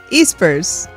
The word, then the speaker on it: Espers: Espers. Espers. I say Esper, but I understand why it could be pronounced Espers.